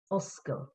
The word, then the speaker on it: oscail: Oscail. Oscail, yeah. Remember that one. Right, so Oscail Honduras. O-S-C-A-I-L. Oscail, 2 syllables.